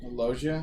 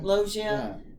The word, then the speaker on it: Loggia: Loggia? Loggia.